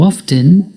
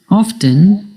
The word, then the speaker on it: often: Often can be pronounced 2 ways, by pronouncing the T, often, or by not pronouncing the T, often. Both forms are correct and depend on where you live.